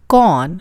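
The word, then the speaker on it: کون: कौन, like a con man.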